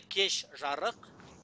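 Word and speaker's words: кеш жарық: Например, кешжарык. Кешжарык. Кешжарык. Видите, хотя пишется кешжарык, но звучит кешжарык. То есть Ж меняется на Ш.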